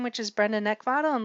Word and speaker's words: Neckvatal: name, which is Brenda Neckvatal, and the last name is spelled N-E-C-K, like the thing you want to choke, V as in Victor, A-T-A-L.